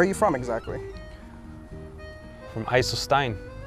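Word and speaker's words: IJsselstein: From Eiselstein. How do you say that? Eiselstein.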